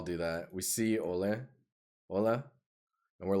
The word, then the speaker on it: hola: only know english hola hola rhymes with cola as long as you